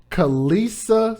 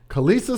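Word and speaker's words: Khalisah: along with an individual by the name of kalisa smith which is spelled k-h-a-l-i-s-a-h hood names kalisa smith who is now 19 years old nobody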